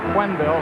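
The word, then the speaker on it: Quenneville: you you may knowless we pronounce his name quille he uh he told us a couple of weeks ago that's the way he preferred it we've been calling him Kenville most of the season and saling of course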